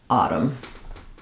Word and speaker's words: Autumn: was Autumn um and we tend to Flap that t which means it sounds like a light D sound um and then we have awah in the final syllable so I would rewrite that as AUM Autumn almost no vowel here we're going right from the flap to the the M sound really short reduce file